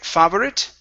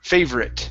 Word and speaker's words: favorite: okay good here um instead of saying favorit okay the o r is not pronounced okay we say fave favor favorite favor favorite okay very nice okay let's